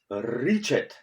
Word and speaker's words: ričet: slovene barley steel named richette if you want to pronounce correctly this vault you have to use rolled r for example like ancient irish pirates or so when i